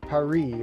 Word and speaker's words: Paris: The only thing I remember is they say it like Paris over there. And why did they put an S at the end of it?